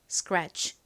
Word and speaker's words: scratch: 그처럼 소리가 난다고 말씀드렸죠 여기서 C는 K 럼 키읔 소리가 나잖아요 그래서이 CY 키읔 소리도의 바로 뒤에 와서 좀 세게 된 소리처럼 발음이납니다 그래서 스크래치가 아니라 스크치 스크치 이렇게 살짝 끝 소리가 나죠 요거 참고로 알아주세요 scratch의